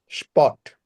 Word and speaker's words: Sport: Ich mache gerne Sport. স্পট, SP, they always উচ্চারণ করে হলো তালিবস্য।